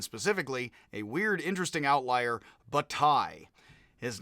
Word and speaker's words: Bataille: It's pronounced with a Y, so that is bataille, is how it is pronounced. As in bat and then a tie, so you have a